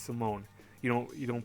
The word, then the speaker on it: Simon: it's not print out like some people perhaps Simon it's Simone you know you don't pronounce it with the IQ pronounced with the